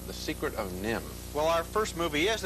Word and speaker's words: NIMH: with an animated feature called The Secret of nim well our first movie is a delightful animated